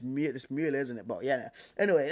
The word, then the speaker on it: Müller: Thomas Mueller with the E with the M U L L E R cuz they've got the two dots, but it's Muer, isn't it?